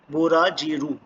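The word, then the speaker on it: ブラジル: Brazil को बोला जाएगा बुराजीरू, बुराजीरू, बुराजीरू।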